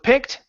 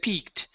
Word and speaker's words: picked: phone okay all right so with uh with picked you're using a good short I now before you said peaked okay it's picked and then before up we don't want to say h but up picked up she picked